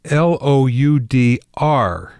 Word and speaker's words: Loudr: Loudr is spelled Loudr. Loudr. There's no E in there.